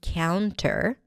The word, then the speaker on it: counter: have the word counter, cow, cown, counter, but you can actually drop the T here and just say counter. When the T appears after an N in unstressed syllables, it is often dropped, like in the word internet or wanted or 20.